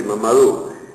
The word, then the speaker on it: Mamadou: El nombre es Mamadou y me ha dicho que se pronuncia así, Mamadou.